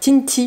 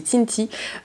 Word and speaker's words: Tinty: Et tu as également de la marque Tinty, pardon, j'ai mal prononcé, c'est Tinty, la locomotive de bain à 6 €.